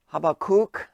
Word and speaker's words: Habacuc: la palabra y la cita bíblica viene de habacuc así se pronuncia 24 si pueden ir buscando en el